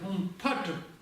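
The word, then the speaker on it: हूं फट्: Ом Бензапани Хумпе читается. Неправда. Ом Ваджапани Хумпатр. Вот так она читается.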